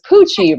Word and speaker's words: Coochie: the name which was coochie rhyme with Gucci this really works out